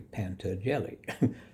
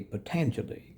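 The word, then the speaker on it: Patanjali: I just read it phonetically, Panta Jelly, but it's actually potentially.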